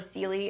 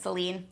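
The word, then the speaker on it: Célie: her name wrong before celie is actually reed's ex-girlfriend i think i said celine we end up seeing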